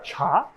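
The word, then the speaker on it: 茶: Parce qu'il ne prononce pas cha, comme en mandarin ou en cantonais, ou même dans d'autres langues chinoises, il le prononce T.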